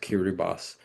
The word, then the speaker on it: Kiribati: And um they're part of a republic of of it's spelled Kiribati but pronounced Kiribbas.